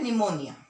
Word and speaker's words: pneumonia: Spell किया जाता है, इसको जो प्रोनाउंसिएशन है इसको हम बोलते हैं निमोनिया.